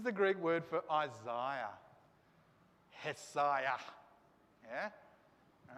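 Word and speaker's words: Ἠσαΐας: Hesaiah. Yeah? All right? Isaiah. Isaiah. The prophet, Isaiah. All right? This is how you pronounce it.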